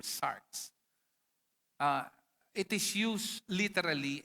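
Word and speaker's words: sarx: The the Greek word for flesh or sinful nature is sars. It's it is pronounc s a rx or sars.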